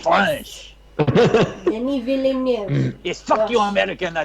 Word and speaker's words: Denis Villeneuve: And if you know the answer, let's see if you can pronounce it correctly. Oh, you mean Denis Villeneuve?